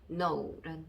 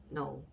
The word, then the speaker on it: know: 자, 그래서 조합을 한번 해서 읽어보면 no라는 뜻이죠. no. 자, 이 no는 그러니까 이 묵음을 모르시면 앞에 K자까지 같이 읽게 되는 그런 경우가 많거든요. 그럼 읽으면 크노 뭐 이렇게 읽잖아요. 그럼 발음이 전혀 다르기 때문에 이 묵음을 꼭 익혀주시기 바라고요.